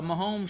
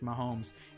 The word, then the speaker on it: Mahomes: Am I even pronouncing that correctly? I think you are, because I remember for a while I kept thinking people were saying Holmes, like Holmes Road that we used to live on.